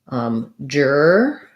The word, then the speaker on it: journey: This OR, we reduce it to an sound. So you're just going to have the and then the EY is going to sound like E. So I would write that kind of like journey. Journey. Yeah. Even though it looks kind of like an or an hour, it's really an sound, journey.